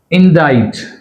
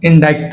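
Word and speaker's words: indict: ఇండైట్. Right, ఇండైట్ అంతేగాని ఇండైక్ట్ అనకూడదు, ఆర్ ఇండిక్ట్ అని కూడా అనకూడదు.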